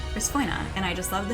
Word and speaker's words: Resphoina: But the other thing is that most people, understandably, pronounce it Responia because, like, it doesn't seem like Respoina isn't exactly natural to say, but it's Respoina, or you can just call me Res.